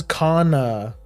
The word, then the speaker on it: Kana: Her name is Kana, you know, like um like the like the the character from Dragon Maid, the the lolli from Dragon Maid, although it's spelled with one less N.